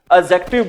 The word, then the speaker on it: adjective: डी जे आ जाए इकट्ठे। ठीक है? वहां पर जो डी की साउंड होती है वो क्या होती है? साइलेंट होती है। ठीक है? यहां पर भी बच्चों डी की साउंड है वो क्या है? साइलेंट है। इसलिए हम इसको बोलेंगे भी क्या बोलेंगे? हम इसको एडजेक्टिव बोलेंगे।